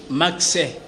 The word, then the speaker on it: Maxe: C'est pourquoi dans la prononciation, on a toujours dit Max. Donc c'est M-A-X-E, qui veut dire mentalité d'analyse d'une production évolue.